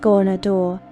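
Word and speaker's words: Ghaunadaur: He is Garnadar, pronounced Gornador, that which lurks, the Elder Eye.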